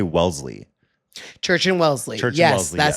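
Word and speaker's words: Wellesley: Wesley is what it actually is spelled like, but then you say Welssley.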